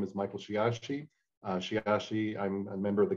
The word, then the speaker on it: Sheyahshe: name is michael shiyashi shiashi i'm a member of the donation she is a caddo for little boy originally pronounced shiatsu and that was too hard to spell so you got shiashi so i'm a technologist